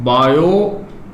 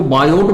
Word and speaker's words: Biot: है वेडिंग लीजिएगा में बायो अजय को को सेवर मोड चला दो अच्छा ठीक है अब इसको बायोट मत बोल दीजिएगा क्योंकि यहां पर क्या है साइलेंट है यह साइंटिस्ट का नाम क्या